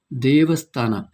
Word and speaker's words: ದೇವಸ್ಥಾನ: You know why actually I put the hyphen on top of the E? So you need to stretch that vowel sound. Devasthana.